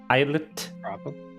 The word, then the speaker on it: islet: how you pronounce it like island but with et at the end islet probably i guess it's